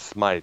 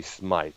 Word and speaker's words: Smyth: people kept competing is to pronounce smite and people presume that it was smith because of the way it was spelled there but it was definitely smite you know it later